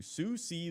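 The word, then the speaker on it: Siouxsie: as a squire to Susi the Banshee I think that's it's s i o uux i s e I think that's how you say it uh and he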